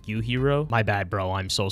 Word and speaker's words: Yujiro: I've been saying Yujiro this whole time, but it's actually pronounced Yuhiro.